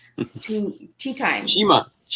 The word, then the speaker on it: Chima: So welcome, Chimi, to Tea Time. Chima. I wasn't sure if it was Chima or Chimi.